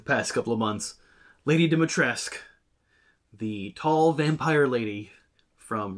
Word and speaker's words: Dimitrescu: They're also using the pronunciation of how it's spelled rather than how they pronounce it in the game. In the game, they say Lady Dimitrescu. The U is silent.